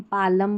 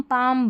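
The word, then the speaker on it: palm: अब इसको कालम, पालम, बालम या यहाँ पर सालम करके नहीं पढ़ेंगे। ये जो PS है ना इसमें P भी साइलेंट है, ठीक है। तो इसको काम, पाम, बाम पढ़ेंगे, और इसमें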